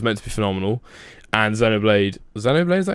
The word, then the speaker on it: Xenoblade: World of Warcraft Legion, which was meant to be phenomenal, and Xenoblade, is that how you say it? Yeah, Xenoblade Xeno- Chronicles X on yeah.